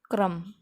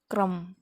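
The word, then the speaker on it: crumb: क्रम, क्रम, क्रम, क्रम यानी छोटा सा टुकड़ा जिसको बोलते हैं टुकड़ा, तो उसमें भी बी साइलेंट है.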